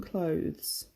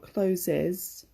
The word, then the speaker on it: clothes: be dusty and travel-worn clothes so when I've had quite a few people ask me how to pronounce this word its clothes not closes clothes so I'm wearing my